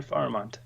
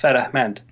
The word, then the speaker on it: Farahmand: So I also speak Farsi because I'm Iranian, and in Farsi it's pronounced Farahmand. So yeah, it has a couple of different what syllables in the different locations.